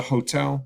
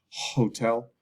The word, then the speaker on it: hotel: office this is a hotel so same as in Spanish same spelling but we pronounce the h hotel hotel hotel hotel hotel